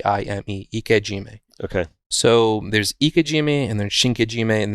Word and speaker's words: ikejime: i process fish at the end is called ikojima so it's spelled ik e space j j-i-m-e ikejime okay so there's ikajimi and then shinkaijime and